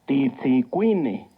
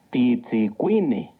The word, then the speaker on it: Titzicuine: Titzicuine. Recuerda que en el náhuatl las palabras se acentúan en la penúltima sílaba. Titzicuine.